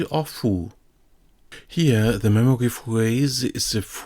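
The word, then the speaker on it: 父: Here we have the character for father with the pronunciation chichi or fu.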